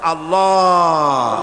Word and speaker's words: আল্লাহ: আল্লাহ পাকের উচ্চারণটা হচ্ছে আল্লাহ পাকের নামের উচ্চারণ হচ্ছে আল্লাহ মুখটা একটু গোল হয়ে যাবে বলেন আল্লাহ আল্লাহ সুবহানাল্লাহ পৃথিবীতে বিভিন্ন